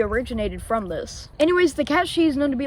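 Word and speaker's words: Cat Sìth: Starting with Scotland where they believe in a creature named the cat Sith. No, we're not talking about the Star Wars Sith. In fact, it's actually pronounced the cat she and this cat can lead to way worse things.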